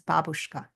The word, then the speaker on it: babushka: When we say babushka, we just mean the scarf, but the real pronunciation in Russian is babushka. And if you said babushka, I don't even know if they'd know what you're talking about because they Yeah.